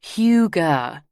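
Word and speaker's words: hygge: It's huger, pronounced huger, Nelly Melon, Sophie size.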